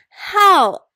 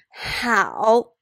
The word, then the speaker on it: 好: How actually has two different pronunciations or two different tones. When this word is pronounced as how, it means good, well. When this word is pronounced as how, it means to be fond of, to like, to have a tendency to.